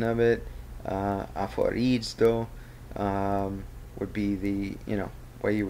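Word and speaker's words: ἀφορίζω: Here's the phonetic pronunciation of it. Aphorizo would be the way you would say that.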